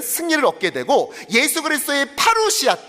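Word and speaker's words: παρουσία: 강이라는 말과 함이라는 말입니다 다음 슬라이드 는 말은 파루시아 파루시아 한번 발음해 볼까요 파루시아 또한 담대함은 파레시아 자 예수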